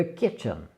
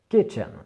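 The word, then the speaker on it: kitchen: dira en anglais de ketchup de ketchup et là c'est pareil accentuation sur la première syllabe et le reste bas on prononce forcément mais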